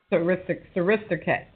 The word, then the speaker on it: Srisaket: So Srisaket, is that how you pronounce his name? Srisaket? Srisaket, yes.